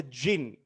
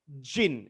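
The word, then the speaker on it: djinn: a talk about a jinn right what's a gin exactly spelled with a d but pronounced jin jin a jinn is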